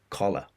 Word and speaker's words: collar: Ooh, oh. Ooh, oh is the 2 different sounds we've got here. We've got collar, A, collar, COLLER, collar. And then we have cooler for B, CALLER, cooler, collar, cooler.